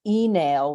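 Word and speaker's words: Uí Néill: a family called the enale which is how you would pronounce it in old Irish but they became the O'Neals which is people probably much more familiar with.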